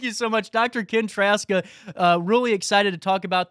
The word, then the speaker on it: Trzaska: So the Z is silent. So it's pronounced as if it were spelled Traska. So Trzaska.